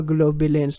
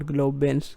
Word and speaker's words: globulins: Gamma globulins, not globins. Gamma globulins.